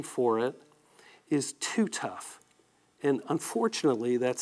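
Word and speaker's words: TuTuf: A trade name for it is Too Tough. And unfortunately, that's spelled T-U-T-U-F.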